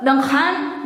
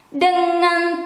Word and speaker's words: dengan: And this one, NNG, a ringing, a singing, is not dengan, no. It is dengan, dengan.